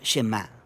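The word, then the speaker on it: שמע: es Oye o escucha Y en hebreo se pronuncia shemá de ahí es de donde viene el nombre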